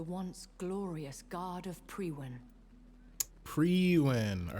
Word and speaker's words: Priwen: Priwen. All right, now we actually know how to pronounce it.